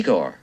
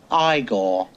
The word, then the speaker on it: Igor: You must be Eigor. No, it's pronounced Igore.